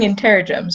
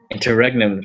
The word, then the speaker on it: interregnum: How have you been pronouncing it? Well, now, so I've been saying interrogems, but I don't think that's even how it's spelled.